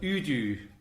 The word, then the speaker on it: udu: Oh, this clay pot is called an udu. This is an udu. You spell that U-D-U, I think.